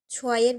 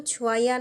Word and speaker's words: ছোঁয়া: ছোঁয়া মুখ ফুলিয়ে বলল, আমার নাম ঠিক করে উচ্চারণ কর। আমার নাম ছোঁয়াইয়া না, ছোঁয়া, সুন্দর নাম।